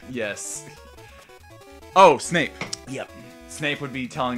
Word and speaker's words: Snape: From getting it rhymes with grape. Yes. Oh, Snape.